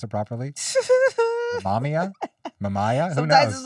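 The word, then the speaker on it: Mamiya: I didn't want to say the make of it because I'm not sure how to pronounce it properly. Mamia? Who Sometimes knows? it's Mamaya.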